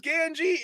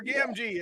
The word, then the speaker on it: Gamgee: Samwise Gamgee is correct. Or Gamgee. I mispronounced it.